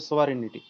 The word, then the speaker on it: sovereignty: একটা ইয়ে আছে না জি ওর উচ্চারণটা থাকবে না উচ্চারণটা হবে সোভারেনিটি সার্বভৌমিকতা সার্বভৌমিকতা বলতে চূড়ান্ত